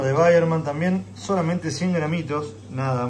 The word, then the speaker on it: Weyermann: Weyermann, mejor dicho, vamos a empezar a hablar bien. No sabía cómo se pronunciaba. Pilsner Weyermann.